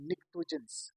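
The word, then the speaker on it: pnictogen: या इसका नाम है टोजन इसका नाम है टोजन य पर मैं लिख रहा हूं इसका नाम है टो जनस यहां पर ये जो प है यह साइलेंट है इसको टोजन कहते हैं पी जो है वो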